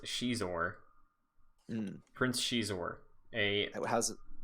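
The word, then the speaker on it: Xizor: ever okay all right uh i wanted to call him sizzler but it is pronounced she's or prince she's aware a how's how does he spell that like uh x-i-z-o-r pronounced she's or all right a fallen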